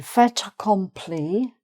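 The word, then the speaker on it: fait accompli: Feta comply. Um the T is only pronounced because it's followed by an A in the following word.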